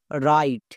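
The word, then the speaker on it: write: এই ওয়ার্ডটার উচ্চারণ করবো রাইট কেন এখানে ডব্লিউ এর উচ্চারণ হবে না ডব্লিউ এর পরে কি আছে আর আছে নিয়মে কি বলা ছিল ডব্লিউ এর পরে আর থাকলে ডব্লিউ সাইলেন্ট থাকে আর যে সাইলেন্ট থাকবে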